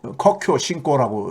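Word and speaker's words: 科教兴国: 중국말로 커큐 신고라고 이렇게 발음하던데 예?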